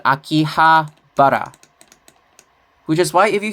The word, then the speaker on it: Akihabara: So, in the past it was called Akibahara. And then they changed it to Akihabara.